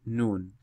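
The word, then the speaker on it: نون: For example, this is kaf and noon, not ken or kun.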